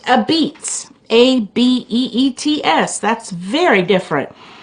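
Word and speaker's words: apizza: uh pronounce this uh a pisa and uh pronounced a beets actually isn't that funny it was called a pisa a-p-i-z-z-a and pronounced a beets a-b-e-e-t-s that's very different like the original white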